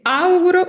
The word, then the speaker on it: auguro: Le auguro, quando dite le auguro, fate cadere l'accento sulla A. Le auguro una buona giornata.